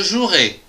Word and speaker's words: jouerai: Attention, ici, il y a un E qu'on ne prononce pas. Demain, je jouerai.